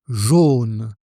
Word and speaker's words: jaune: Le deuxième se prononce jaune avec le son O, et c'est la couleur. Il est jaune.